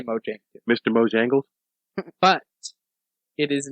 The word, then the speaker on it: Mojang: the Swedish game developer Mojang Mojang moang I've heard it pronounced moang Mojang I say Mojang Mr mojangles but it